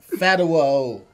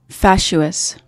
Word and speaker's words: fatuous: Fatuo. Is that S silent? No, it's getting worse and worse. Is the first U silent? What? How do you say the word, Maye? Fatuous.